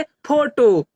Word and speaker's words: photo: उसी प्रकार PHOTO, PH से क्या होता है? हमारा फ होता है।